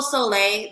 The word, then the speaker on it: Sole': book a reading go ahead um it's solay the exact same way that my name is spelled here on Instagram if you type that